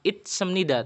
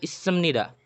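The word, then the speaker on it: 있습니다: Makanya yang sering kita dengar itu issemnida, bukan itsemnida, tapi issemnida. Jadi sietnya lebih dominan daripada T-nya.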